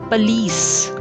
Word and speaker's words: police: Police. Police, not police. Although it's most commonly pronounced as police, but that's wrong. It's police. Police. Police. The stress is on the last syllable.